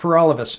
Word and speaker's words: Alavés: name is / alavés and that rhymes with for all of us and I'm the People's